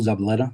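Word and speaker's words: Zabaleta: Could you please state your name and spell it for the Yes. Zabaletta.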